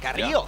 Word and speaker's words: Carrillo: I gotta say, I appreciate the pronunciation. Carrillo. Yeah. Hey, Carrillo. A roll that R pretty well.